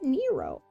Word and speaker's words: Nero: know what word and I end up kind of going for a more Spanish pronunciation of it sometimes I'm like n it's Nero oh door swings open